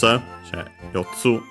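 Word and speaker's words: 四つ: So yeah, Yotsu, accent on the Tsu again.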